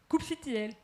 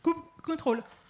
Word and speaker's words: kubectl: Chaque personne dans ce monde a sa propre façon de prononcer la CLI de Kubernetes. kubectl, kubectl, kubecontrol. Franchement, ne vous prenez pas la tête. Le plus important est de l'utiliser. Donc, ne vous attardez pas sur sa prononciation.